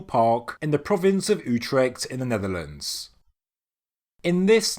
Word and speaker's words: Utrecht: province of utrecht and it's pronounced utrecht or in english the utrecht hill ridge this is a sandwich